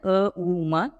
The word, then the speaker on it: ಓಂ: ಈ ರೀತಿ ಓಂಕಾರದ ಸರಿಯಾದ ಉಚ್ಚಾರಣೆಯನ್ನು ಅ ಉಮ ಇವು ಮೂರು ಸೇರಿಸಿ ಹೇಳಬೇಕು ಅದೇ ರೀತಿ ಇದೊಂದು ಪ್ರಾಣಾಯಾಮ